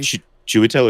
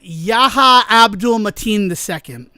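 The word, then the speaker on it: Yahya Abdul-Mateen II: Shitell or Joliver? No, not Shell. Um uh Yaha Abdul Matin II.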